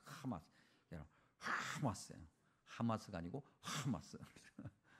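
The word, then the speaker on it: חמס: 이걸 발음으로 어 이렇게 히브리어 발음으로 읽으면 하마스예요. 하마스 여러분 하마스 하마스가 아니고 하마스 어쨌든 그 단어 하마스 어디서 많이 들어봤죠?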